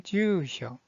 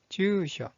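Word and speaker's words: 住所: 자, 주소라는 뜻을 가지고 있는 이 한자의 발음은 주쇼, 주쇼.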